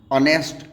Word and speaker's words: honest: इसके अलावा H silent हुआ करता है HOUR और, HEIR year, HONEST ऑनेस्ट, HONOR honour, RHYME rhyme.